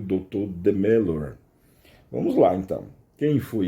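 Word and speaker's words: Demeure: é eu acho que a pronúncia em francês é de melor Então vamos o doutor de melor ele ele foi morto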